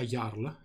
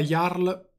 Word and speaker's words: Jarl: quando layar dei rinnegati penso sia iarla questo caso anche perché nei linguaggi nelle lingue nordiche moderne la j sì è una j e si pronuncia come la ypsilon non come la jmj quando la jarl dei